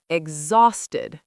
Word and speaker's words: exhausted: Exhausted. Two syllables. Stress on exhausted.